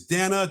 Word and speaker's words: Dana: Dana. It is Dana.